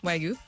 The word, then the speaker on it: Wagyu: By the way, what's the proper pronunciation in your opinion? What you just said. Yeah, Wagyu. Okay, good. Wagyu or Wagyu? Wagyu. Okay, cool. Good.